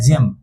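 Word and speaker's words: gem: रख देगा और बोलेगा नहीं तुम जी का उच्चारण ग से नहीं करोगे तुम जी का उच्चारण किससे करोगे ज से करोगे जी का उच्चारण ज से क्योंकि बगल में कौन आ गया इ आ गया तो जी इ एम ये जी का उच्चारण ज से और इ का ए और एम का म तब जोड़ेंगे तो क्या बनेगा जेम जी इ एम जेम जेम मतलब कीमती रत्न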